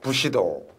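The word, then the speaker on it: 武士道: 오른쪽 책 표지가 있어요 부시도 일본 발음으로 무사도 가 부시도 줘 이 책을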